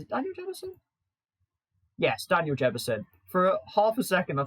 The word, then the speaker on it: Jebbison: Yes, Daniel Jebbison. For half a second, I thought I got his name wrong.